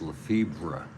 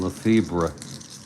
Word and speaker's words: Lefebvre: I guess it might be pronounced Lefebvre. Jim Lefebvre. 1 for 2, unless the V is silent.